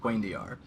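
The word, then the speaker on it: cuendillar: broken, being made of unbreakable, how do you pronounce it? Quaindiar?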